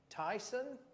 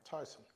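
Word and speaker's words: Taisun: name I have not here you pronounce it Tyson Tyson t-a-i-s-u-n Tyson yeah yeah Tyson Pete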